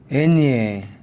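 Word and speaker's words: eñe: 애니에 마찬가지로 엘리 뇨, 뇨, 냐, 노, 나가 아니고 뇨입니다. 뇨, 냐, 그죠?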